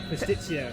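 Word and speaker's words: παστίτσιο: Pastitsio.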